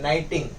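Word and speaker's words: knitting: एन जी ठीक है के बोलने के टाइम प के नहीं बोलना है डायरेक्ट एन से स्टार्ट करना है नाइटिंग ठीक है तो नाइटिंग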